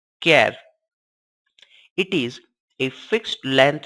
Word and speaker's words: char: h a r and pronounced as care it is a fixed